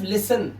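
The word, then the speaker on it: listen: कह रहा है जैसे 10 टी ई एन और टी सी एच इसमें टी हमेशा साइलेंट होगा। देखिए यहां पर यहां टी एन लिखा है लिखा है टी इ एन तो यहां पर इसे पढ़ते हैं सिर्फ लिसन। क्या पढ़ते हैं? लिसन टी साइलेंट मतलब होता है सुनना।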